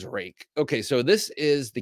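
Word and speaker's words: Ruike: from Phoenix flashlights spelled r UI K which you might think should be pronounced ruik uh but it is rake okay so this is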